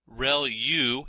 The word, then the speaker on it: ReLU: There are multiple hidden layers like convolution layer, ReLU is how that is pronounced, and that's the rectified linear unit.